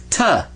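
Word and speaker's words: تاء: Ta. Say two. Ta. Well, this is ta. So make the sound of ta right there.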